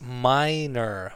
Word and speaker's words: minor: This word is pronounced minor, minor, minor, not minor, not minor. It's minor, minor.